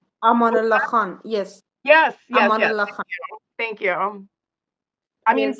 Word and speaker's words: Amanullah Khan: I'm not mistaken, the president by law is Amunullah Khan. I'll have to get back to you on. I can't remember how to pronounce his name, but I actually, if this